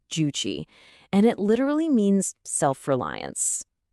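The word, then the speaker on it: Juche: It's called juuche. That's pronounced guuchi.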